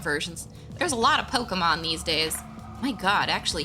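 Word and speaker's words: Pokémon: I'm just curious because I still love me some Pokemons. Pokemans. It's funny because I used to get so mad at my parents for saying it wrong. No, it's not Pokemans, it's Pokemon.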